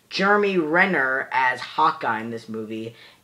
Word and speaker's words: Renner: really did like that we also have Jeremy Ramen I'm just mispronouncing everyone's names Jeremy Renner as Hawkeye in this movie and I also